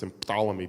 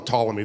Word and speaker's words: Ptolemy: English we don't pronounce emphalomy because in English we don't like Words that start we call them Ptolemy the p is silent Aaron pankin this is